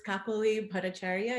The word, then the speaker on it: Kakali Bhattacharya: Yeah, so it's Kakali Bhattacharya if you want to do it the Anglo way.